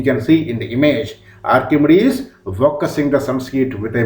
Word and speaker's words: Archimedes: a greek mathematician pronunciation the name will be pronounced like this archimedes a greek mathematician who lived twenty two hundred